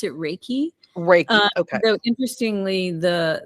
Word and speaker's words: Reiki: I pronounce it Reiki. Reiki. Okay. Though interestingly, the word is of Japanese origin, and they don't particularly pronounce R's the way we do. So they'll say it more like Reiki.